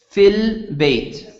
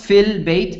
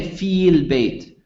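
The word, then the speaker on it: في البيت: the long vowel is not pronounced when a sukoon follows after the word fee you do not pronounce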